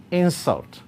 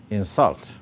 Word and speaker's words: insult: So the stress in the above words varies such that nouns and adjectives are stressed on the first syllable while verbs are stressed on the second syllable, as it is indicated